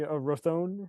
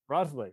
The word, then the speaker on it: Roethle: So Courtney Rothone. Is that how I pronounce it? Roethle. Roethle. Courtney Yep.